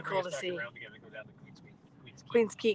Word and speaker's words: Queens Quay: to see around together queen's key queen's key q-u-a-y queens quay queen's quay pronounced that would have been